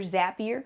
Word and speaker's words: Zapier: Using systems like Zapier, Zapier, rhymes with happier, Zapier, you can connect some of the different technical systems that you use.